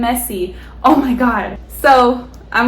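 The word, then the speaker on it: Emezi: to say somebody's name her name is pronounced as a quake a m z mse a quake and messi oh my god so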